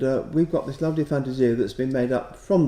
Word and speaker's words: Fantasia: Christmas Fantasia or Fantasia hands up anybody who thinks it should be pronounced Fantasia and and who's up for Fantasia right we three can I can I vote in V Williams as well he would certainly have pronounced it in Italian he liked using Italian